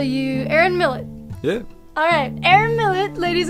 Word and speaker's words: Millett: Or Well, it is originally French, but I pronounce it English, so Millett. Just Millett, yeah.